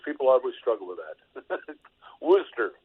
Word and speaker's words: Worcester: And thank you for correcting the pronunciation, because people always struggle with that. Worcester. Worcester, that's right.